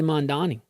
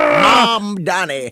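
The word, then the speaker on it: Mamdani: Oh, I always say Mandani. You still said it wrong. Mom Donnie.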